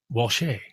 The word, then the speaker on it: Walshe: The E is silent. Walsh.